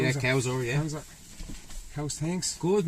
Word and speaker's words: Cowzer: Cowzer? Yeah, Cowzer, yeah.